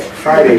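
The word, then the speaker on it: Hriday: The H is silent. Okay. Friday.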